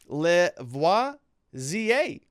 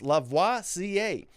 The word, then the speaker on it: Lavoisier: Also, the handle is pronounced Lavoisier, as in the famous chemist, Lavoisier.